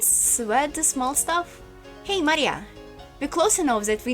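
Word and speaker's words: 真里亞: is written Maria oh this is literally pronounced Maria because this is straight away Ma and this is like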